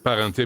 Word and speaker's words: Parente: monsieur de m'ill c'est comme ça qu'on prononce votre nom parenté oui parenté parfait mais ça ça c'est